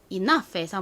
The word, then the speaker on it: enough: enough에서 먼저 이 발음은 알파벳 E를 써주시면 되고요. 너 부분은 니은 소리가 나는 N 그리고 소리가 나는 O, U를 씁니다. 마지막으로 F 소리는 이 단어의 경우 GH를 썼습니다.